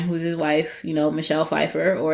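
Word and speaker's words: Michelle Pfeiffer: know, Michelle Fefeifer, or as our flat mate Georgie says, Michl Pifier. She does. She said it by accident last night. It was great. What does that mean? She just mispronounced it and she's like, "Oh, I mean Michelle Fifer."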